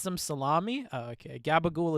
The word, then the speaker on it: gabagool: some salami oh okay gabagool is a meme from the sopranos interesting it's the new jersey italian pronunciation of uh capricola why the [ __